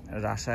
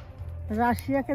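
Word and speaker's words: Russia: এই শিখলাম, আগে তো আমার ধারণা ছিল যে এবারে রাশিয়াকে যে রাশা বলে সে আমি জানতাম না, এই আজকে মানে অনন্তর কাছে শুনলাম উচ্চারণটা রাশা, বাঙালিরা রাশিয়া বলে, যেমন চায়নাকে বাঙালিরা চীন বলে, সেরকম।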